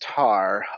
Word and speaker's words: taur: is a tar and am i saying it correctly it's tar or tor you're saying correctly it is tar tars are basically what